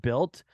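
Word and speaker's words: Bylt: to do it uh b-y-l-t built I think it's pronounced built okay basic um I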